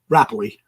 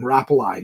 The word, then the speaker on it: Rapley: credits do Neil rapali the rapley I heard him pronounce his name I've been calling him rapali no offense at all